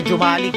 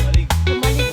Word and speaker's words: Jomalig: Dati nga Jumalik eh. E napanood ko kay Drew Jumalig. Si ano biyahe ni Drew. Ano ang tamang pronounce niya kuya? Ayan sa mga lokal tayo makig humalig. Humalig talaga humalig yung humalig na humalig